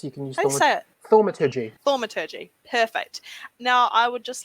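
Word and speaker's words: thaumaturgy: up to can i use and pardon my pronunciation thomaturgy yes you can use it thormatiji thormaturgy perfect now i would just like to create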